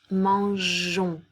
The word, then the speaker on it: mangeons: complétez le verbe d'accord nous allons ajouter un e devant la terminaison pour éviter que le som face mango pour qu'on prononce mangeons d'accord puisque c'est le verbe manger on a besoin du son jeu par conséquent je vais rajouter un e afin de pouvoir le prononcer jeu et pas eu d'accord ensuite nous